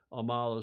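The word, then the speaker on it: AMAALA: Finish Line just off Amala I heard the gentleman in that video we just played pronouncing it Amala so I will continue to pronounce it thus so there is the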